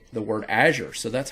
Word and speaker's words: Azure: All right, and this, of course, is where Azure comes into play, Microsoft Azure. Now, you might pronounce that word different.